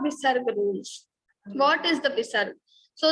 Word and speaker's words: visarga: What is the visarga? So the pronunciation of visarga is like ha, ha.